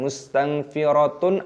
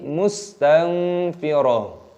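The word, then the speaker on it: مستنفرة: Jadi bukan mustanfiratun ataupun mustanfirat, tapi mustanfirah.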